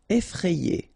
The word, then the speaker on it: effrayé: Effrayé. Okay, remember, double F, so you open the E, so effrayé.